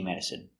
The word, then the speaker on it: medicine: Stress on the first syllable.